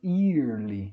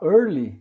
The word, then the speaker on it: yearly: to New York check-up yearly Olha a pronúncia e ele se você falar Orly sem o y aqui está falando cedo na verdade eu quero